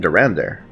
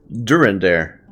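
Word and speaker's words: Durendaire: much honor my friend so it's during there i've been saying durander i've been putting the emphasis on the wrong syllable during there okay my lord what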